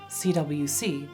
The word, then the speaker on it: CWCville: El cómic está ambientado en CWCville (pronunciado como "ciudad rápida") C.